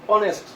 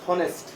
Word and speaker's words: honest: উচ্চারণটা অয়ের মতো হওয়ার কারণে, অয়ের মতো উচ্চারণ হওয়ার কারণে অনেস্ট, নট হনেস্ট, উচ্চারণটা অনেস্ট।